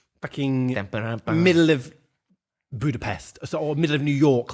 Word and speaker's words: Budapest: with you again also it's pronounced Budapest oh sorry